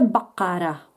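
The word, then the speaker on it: بقرة: Προφέρεται Μπακάρα, το κάπα βγαίνει από μέσα. Είναι ένας ήχος τον οποίο δεν τον έχουμε στην ελληνική τη γλώσσα.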